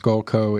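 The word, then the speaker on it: Sculco: and it's and it's I believe it's pronounced skullco it's it's s-c-u-l-c-o and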